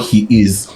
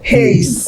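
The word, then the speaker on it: HEIS: Even the most recent video, Rema's album is called He Is. She thought, people were lying. She thought it was his. I'm not lying. Me too. I've heard people pronounce that album Haze.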